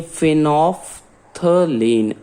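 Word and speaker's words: phenolphthalein: PHENOL, PHTHALEIN, इसे बोलते हैं हिंदी में, लिख लीजिए फिनोफ्थलीन। अगर बोलने में नहीं आए तो मैं लिख देता हूं यहां इसका प्रोनाउंसिएशन, फिनोफ्थलीन, ठीक है।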